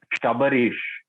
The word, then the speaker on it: Shabarish: Sabrish. Sabrish. Sorry, how do you pronounce his name? Sabrish. I'm sorry. It's Shabarish. Sabarish. Shah. Okay. Oh, Shabarish. Okay, my bad, man.